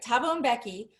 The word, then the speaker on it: Thabo Mbeki: That's right, Thabo Mbeki.